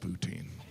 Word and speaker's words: poutine: Like, yeah, I had the kale poutine smoothie. It was delicious. Poutine. I know some of you pronounce it poutin, but you're still saying poo.